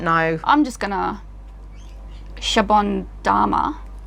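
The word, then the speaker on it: シャボン玉: I'm just going to Shabon Dama. But there's no... It's Dama. Dama. It's Dama. Japanese. Oh, it's Dama.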